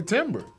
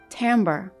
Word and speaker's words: timbre: I'm going to just go out on the limb and say timber.